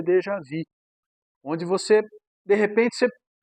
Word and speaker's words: déjà vu: A pronúncia é déjà vu.